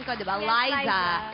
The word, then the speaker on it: Liza: pronunciation ko di ba Liza pero It's like Liza minelli Yes po okay but